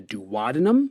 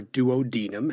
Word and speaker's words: duodenum: From proximal to distal, they are the duodenum or duodenum, however you want to pronounce it is fine by me, the jejunum, and the ileum.